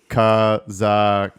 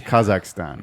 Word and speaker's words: Kazakhstan: come from kakan that's it would have to be Four A's it's Kazakhstan yeah this guy made an entire video about the place and he couldn't even pronounce the name right yeah anyways I just